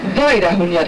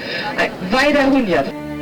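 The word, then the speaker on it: Vajdahunyad: How do I pronounce that, Kathy? Weidahunjat. Oh, that's easy. If you say that, it's easy to pronounce. If I hear it, but if I see the letters, no. Weidahunjat.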